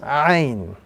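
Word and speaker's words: ع: This letter appearing on the screen is the letter Ain. And just as a reminder, this letter, when pronounced, must be pronounced with a little more emphasis. Ain.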